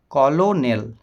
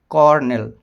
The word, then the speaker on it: colonel: ও এন ই এল কলোনেল এটা কিন্তু সঠিক উচ্চারণ নয় কলোনেল নয় উচ্চারণ হবে কর্নেল কর্নেল কর্নেল এই ধরনের